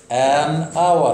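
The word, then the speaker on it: hour: ان اور، علشان الاتش هنا كونسنانت سايلنت كانت حرف صامت ما بيتنطقش وبننطق بعديه الاو، علشان كده كنا بنقول ان اور.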